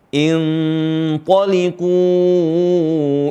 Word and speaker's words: intaliqu: Perhatikan di sini ada nun tanwin atau nun sukun bertemu dengan huruf tha. Dan huruf tha termasuk huruf ikhfa. Huruf ikhfa yang tebal. Intaliqu. Jadi ikhfa-nya ikut tebal.